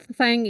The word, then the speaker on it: thank: Thank ini cara bacanya lidahnya digigit ya, digigit, tapi jangan terlalu keras ya. Antara gigi atas dan bawah.